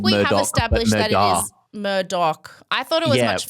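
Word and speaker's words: Murdaugh: The redheads who are also called Murdoch established that it is Murdoch. I thought it was much funner when it was the Murdoor.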